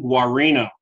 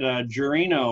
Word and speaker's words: Guarino: If you didn't have the little subtitle there on how to pronounce it correctly, I might have said Guarino or something exactly.